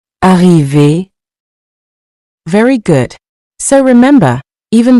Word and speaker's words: arriver: At the end of these verbs, ER sounds like A. The same sound you hear in the word say, so the R is not heard separately.